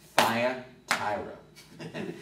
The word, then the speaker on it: Thyatira: And the T is easy to remember because my old friend Nancy Shaw used to say like this, visually, she'd go, Thyatira. So Thyatira is spelled T-H-Y.